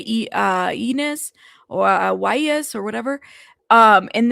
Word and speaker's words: Ynez: So it's Ynez. Okay. So I said it correctly. Santa Ynez. Yeah, Ynez. I have a cousin named Ynez. So, yeah, I'm familiar. That's why, we don't spell it with the Y. We spell it with an I.